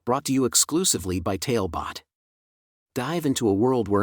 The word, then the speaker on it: Talebot: tonight's bedtime tale brought to you exclusively by tailbot dive into a world where imagination has no